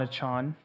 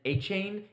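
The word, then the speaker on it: Achane: like the rookie class as a whole Devon a Chon a change well I said his name wrong like three times I know he got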